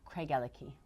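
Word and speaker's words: Craigellachie: It is not Craigalachy. It is Craigalachy.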